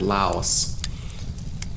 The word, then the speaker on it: Laos: degrees 36 minutes east Laos I hope you don't get any lice the proper pronunciation is Lao like Dao as in Jones said